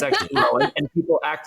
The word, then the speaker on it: Lohan: I've always known that her last name is pronounced loen and everyone says Lohan she she informs us about every seven to 10 years that it's actually loen and people act like this is a huge